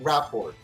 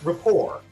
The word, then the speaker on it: rapport: For the longest time, I thought that was pronounced rahort, as in you have a good rapport with someone. You have a good like uh a friendship with someone. Uh but no, it's it's pronounced rapport.